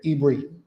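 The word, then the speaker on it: עברי: Yeah. Is how you say Hebrew in Hebrew.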